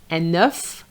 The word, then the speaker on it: œuf: Enough the F is pronounced.